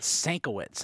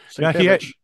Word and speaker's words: Sienkiewicz: I've always said Sankowitz. I've been saying it wrong. Yeah, Sienkiewicz. He actually made his Twitter handle at one point the proper pronunciation so people would have it.